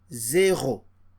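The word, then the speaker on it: zéro: So this is pronounced zero.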